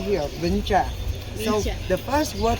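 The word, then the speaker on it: Vĩnh Tràng: So this is like called Vinh Trang. Vinh Trang. Vinh Trang at that time. Okay. But they add today the local people they mispronounce that word from Vinh Trang into Vinh Trang.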